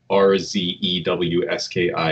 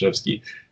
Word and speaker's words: Rzewski: not familiar, it's spelled R-Z-E-W-S-K-I. It looks like Rzewski, but it's pronounced Zhevsky.